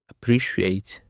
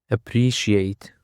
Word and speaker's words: appreciate: And for the next word we have appreciate. Appreciate. Appreciate. The stress is on the second syllable.